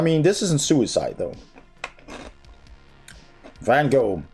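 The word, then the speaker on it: Van Gogh: this isn't suicide though van go how wish I was there right now mhm or actually Von go Vincent Von it's not van go but obviously that's easier to pronounce the national Galleria of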